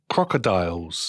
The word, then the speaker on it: crocodiles: คะ เรา เรียก ว่า crocodiles crocodiles อย่า ลืม นะ มี Dial Dial ไม่ ใช่ โดล งี้ ไม่ ใช่ นะ ลูก นะ crocodiles crocodiles